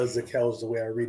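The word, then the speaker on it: Zakelj: I think some people say they don't pronounce the J at the end of the name. Right. I would always say Zakel is the way I read it, but sounds like he's in contention now.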